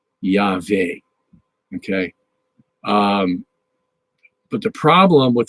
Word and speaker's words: Yahweh: Anyway, so you would, it looks like it's pronounced Yahweh, Yahweh, Yah. You get the yod sound, the vav sound, Yahweh.